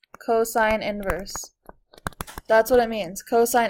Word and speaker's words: cosine inverse: It's not cosine to -1. This whole thing is cosine inverse.